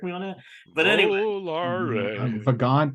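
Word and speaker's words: Vagante: to say this, but Vagrante or something is the name. Anyone, John? Can you correct me on that? But anyway, Vagant, there's no R in it.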